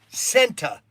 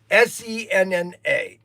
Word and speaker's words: Senna: That I used to pronounce his name Senta. I put a T in it.